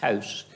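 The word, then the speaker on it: Haus: They simply use the word house, spelled H-A-U-S, but it's house, spelled the same as us.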